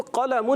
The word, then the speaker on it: قلم: جیسے قلم، ھذا قلم، تو اس کو قلم ہی قاف موٹا پڑھیں گے، یہ نہیں، یا ھذا ذال بول رہے ہیں تو اس میں ھذا قلم، ایسے نہیں، یہ عربی